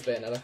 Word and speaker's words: Bayonetta: I think it's how you say it, Bayonetta. Yeah, it's Bayonetta.